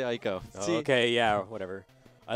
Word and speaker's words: Ico: It is Eco. Oh, I'm sorry. I'm still going to say Ico.